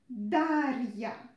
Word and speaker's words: Дарья: So, R, soft. R, Я. R, Я. Дарья. Дарья. Don't pronounce it like Дарья. No. Don't try to pronounce it with E sound. It's another name. And we don't have such a name here in Russia. It's not a Russian name.